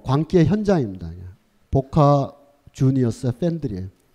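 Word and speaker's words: Boca Juniors: 이 아르헨티나는 스페인어를 쓰기 때문에 이거를 보카 후니오라고 멋있게 읽어야 된다라는 일부 몰지각한 팬들도 있는데 아르헨티나가 스페인어를 쓰는 건 맞지만 이 팀은 원래 영국인들이 창설한 팀이라서 그 스펠링을 보카 후니오르라고 읽으면 안 되고 보카 주니어스라고 영국식 발음으로 읽는 게 아르헨티나 사람들도 타당한 거의 뭐 광기의 현장입니다.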